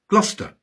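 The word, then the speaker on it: Gloucester: There are no absolute rules in English place names, but cester is usually shortened to stir, bister, glouester.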